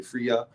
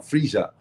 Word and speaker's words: Friya: of it's spelled f-r-i-y-a-a-friya some people say Freya but it's a j sound freesia but that's what Friday